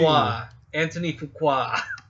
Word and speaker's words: Fuqua: It's spelled weird. Anthony Fuqua.